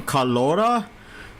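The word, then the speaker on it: Carlotta: but this wasn't carada that's how you pronounce the name carora the T silence I thought you have to emphasize on the T so got car to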